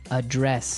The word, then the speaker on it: address: So the verb address has the stress on the second syllable.